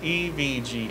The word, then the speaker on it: EVGA: It is pronounced EVGA.